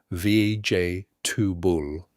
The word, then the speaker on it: vegetable: Vej-ta-ble. The stress is on the first syllable and the G is soft like in judge.